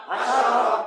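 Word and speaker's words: حَشَرَ: র হাশারা হাশারা কির হাশার সবাই কন হাশার জোরে কন হাশার হাশারা বানান করি সবাই সবাই কন হা জবর হা শিন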